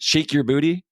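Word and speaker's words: Sheik Yerbouti: a great album title is it shic your booty but it's spelled like Sheik sh sh I EK and your booty it's a great album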